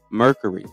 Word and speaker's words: Mercury: Okay, so Mercury. Okay, I want to make sure I'm saying it right, man. I don't want to, I was saying Mercy. It sounded like you were saying Mercy.